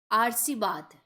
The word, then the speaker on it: आशीर्वाद: चलिए नेक्स्ट है आशीर्वाद।